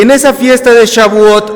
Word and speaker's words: Shavuot: fiesta de las semanas y eso se pronuncia shavuot la fiesta de las